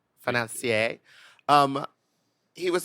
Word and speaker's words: financier: At the end of it, he goes I was like, "You need to pronounce it in a French way." Financia. Financier.